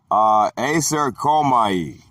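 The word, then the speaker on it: εἰσέρχομαι: The Greek word for went in, aserkomai, pronounced ice, air, calm, ahi, from Greek number 1519 and Greek number 2064.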